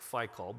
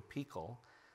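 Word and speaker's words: פיכל: An advisor named Ahuzath, and I know it looks like Phicol, but it's pronounced in Hebrew Pekol, the commander of his army.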